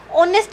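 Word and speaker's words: honest: ऑनेस्ट मैन है, ऑनेस्ट मैन में एच क्या है, साइलेंट है, ठीक है।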